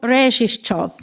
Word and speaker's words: Rezhishchov: in a town that looked like sneeze on a map and is pronounced the same way. The town is called Rezhishchov.